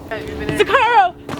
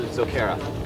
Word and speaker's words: Zokara: Zakaro! Yeah! Is it Zakara? Yeah, man! Is it Zakara or Zakaru? Probably just said it wrong. Josh, what's our group name? You guys are Zokara.